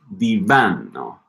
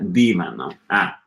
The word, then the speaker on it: divano: To note that it's divano, not divano.